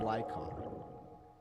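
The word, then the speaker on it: Lycaon: so Luna also says pronounce it lycon like lie Khan not necessarily cone like gown like on Lycan no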